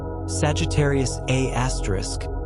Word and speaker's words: Sagittarius A*: The supermassive black hole at the Milky Way center, Sagittarius A*, pronounced A*, contains about 4.2 million solar masses compressed into a region smaller than Mercury's orbit.